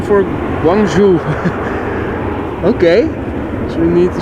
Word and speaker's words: Guangzhou: Bas says, Loco says it's pronounced Guangzhou.